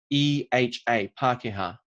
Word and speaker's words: Pākehā: Spell it for me. Pakeha. Pākehā.